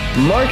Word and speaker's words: Maz: I intentionally did not tell you my the pronunciation of my first name cuz I want to see how you do it. And you did Maz, but it's Ma.